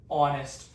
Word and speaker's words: honest: So we pretend in our hearing the O is the first letter. That is the first letter that we speak. So it's an an honest person. It's a little confusing, but when you have the silent letter, the vowel decides.